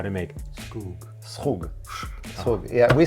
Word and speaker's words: Skhug: always wanted to learn how to make is Skhug. Is that how you pronounce it? I have to say the most difficult thing about making the Skhug is to say it. So Skhug is Skhug.